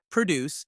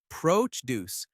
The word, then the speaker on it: produce: Produce noun. Stress the first syllable. Produce and dessert versus desert.